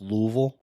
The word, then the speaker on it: Louisville: dude like uh Sean it's actually pronounced Louisville get